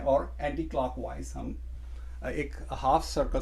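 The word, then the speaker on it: ح: इसमें डॉट नहीं है, और इसकी आवाज़ है हा। एक और हा यूज़ करते हैं, वो यहाँ से निकालते हैं हा। ये प्रोनाउंसिएशन जो है ना, हमने इसका ख्याल रखना है। अरबी में इस चीज़ को बहुत ज़्यादा कंसिडर किया जाता है। ये एच की साउंड निकालता है।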